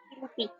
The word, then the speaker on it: Philippines: Philippines. Yeah. Philippines is the correct Oh, pronunciation.